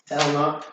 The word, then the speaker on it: Hellnought: Hellnought. Hell no. It's like a dreadnought, but it's called Hellnought.